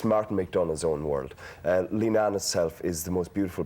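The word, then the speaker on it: Leenane: It's back in Linan. Am I pronouncing it correctly?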